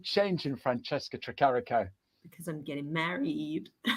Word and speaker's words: Francesca: oh my goodness franches trick carico just say Franchesca considering my name's changing and I've just leared